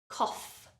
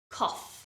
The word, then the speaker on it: cough: is really tricky because you wouldn't look at the word and think it has a f sound but that is how we pronounce it so listen and repeat cough cough the o u g